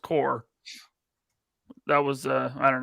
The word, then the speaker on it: corps: orange orchard who said corpse you did you called it battle corpse oh i i know it's pronounced core that was uh i